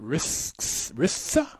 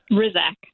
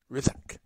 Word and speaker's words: Hrisak: Is it Risa? Rizak. Rizak. Silent okay. H and an S that sounds like a Z. Rizak.